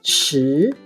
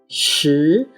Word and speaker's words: 时: 时 is the second tone, while 四 is the fourth tone.